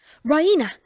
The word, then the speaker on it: Raina: She pronounces it the Raina, with the stress on the E. Raina!